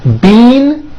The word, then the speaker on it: bean: The word bean, spelled B-E-A-N, which you eat, is pronounced with a high E sound. Bean. However, this word, B-E-E-N, spelled with a double E, is pronounced with a low sound.